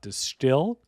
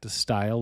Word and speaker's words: De Stijl: an outstanding track off distill. If you've been with this show, you know that I've hummed and hawed between pronouncing it distile or distill the Dutch sounding way.